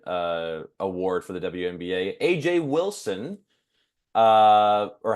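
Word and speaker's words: A'ja: award for the WNBA AJ Wilson uh or how do you say Asia or AJ I think it's Asia yeah I think it's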